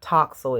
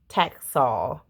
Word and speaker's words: Taxol: It's not Toxol, it's Taxol. So I met with Dr.